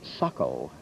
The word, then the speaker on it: Saco: learned very early that that is pronounced not the way it's spelled s-a-c-o but suckle or else you get